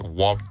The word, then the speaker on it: wobe: Yeah, and with Creole, the first word is like dress in French.